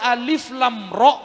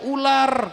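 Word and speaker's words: الر: Makanya jangan heran kalau ada alif lam ro ada orang Bekasi bacanya ular katanya.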